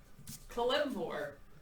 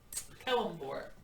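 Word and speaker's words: Kelemvor: Kalimvor. Kelimbor.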